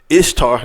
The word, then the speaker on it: Ishtar: Because I said, Ishtar, the goddess Ishtar, which is pronounced Easter, we pronounce it Easter, she was the goddess of fertility.